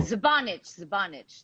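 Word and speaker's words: Žbanić: Zabanich. That's how you pronounce it.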